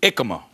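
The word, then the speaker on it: jicama: It's with a J, but it's really ikama, how it's pronounced.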